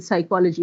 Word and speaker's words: psychology: What is the role of P in psychology?